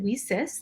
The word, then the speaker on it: WiCyS: acronym leases w-i-c-y-s and we pronounce it we cis like we sisters because that's exactly what